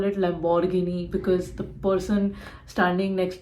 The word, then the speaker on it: Lamborghini: it is Hyundai again this is most commonly mispronounced it is not Lamborghini Lamborghini it is Lamborghini you have to be little lavish also you have to call it Lamborghini this is a Chinese brand and it is